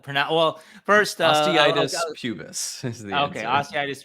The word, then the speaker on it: osteitis pubis: So how do you pronounce? Well, first, Osteitis pubis is the okay, answer.